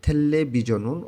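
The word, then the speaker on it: 텔레비전: রিউল বাচ্ছিমের পরে যদি রিউল থাকে দুইটারই লয়লা উচ্চারণ হবে, ভাচ্ছিমের নিয়ম। উচ্চারণটা হবে থেল্লে বিজনুন অর্থ টেলিভিশন।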